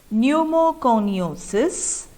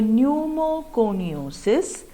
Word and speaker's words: pneumoconiosis: Some examples of occupational diseases are pneumoconiosis, silicosis, and asbestosis. I repeat, pneumoconiosis, pneumo related to pneumonia, P is silent. So pneumoconiosis, silicosis, and last one is asbestosis.